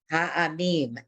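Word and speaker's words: העמים: Ha'amim, excellent. And there's that, yeah, no, that's good. Ha'amim. So the silent ayin, which you don't like to make, the mem has a dot in the middle.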